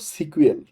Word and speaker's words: SQL: এস কিউএল এস কিউএল এটার আসল উচ্চারণ হলো সিকিউএল সিকিউএল আমি আমার আসলে এস কিউএল বলে অভ্যাস হয়ে গেছে এটার ফুল ফর্ম হলো